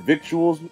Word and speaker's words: victuals: Never heard the word victuals, eh, Speedy?